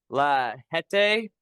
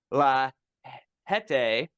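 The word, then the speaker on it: La Jetée: It's La Hete, on. LA, one word. The next word, Jet, E with the little thingy, and then another E.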